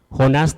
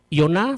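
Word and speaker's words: יונה: Abraham, perdón, Jonás tenía una debilidad temperamental y eso lo llevaba a comportarse como él lo hacía. Y antes de seguir adelante, Jonás en hebreo se pronuncia Joná, significa paloma. Yoná significa paloma.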